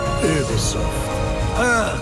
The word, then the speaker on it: Ubisoft: It is actually pronounced Ubisoft. The French.